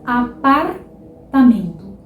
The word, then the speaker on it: apartamento: E este R suave também está entre uma vogal e uma consoante em muitas palavras. Por exemplo, na palavra apartamento.